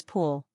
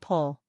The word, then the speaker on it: pool: The spelling is easy, but the pronunciation is pool. Don't confuse it with pull.